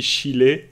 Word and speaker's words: Schiele: Il m'a dit si tu veux lui faire plaisir, tu dis Chile.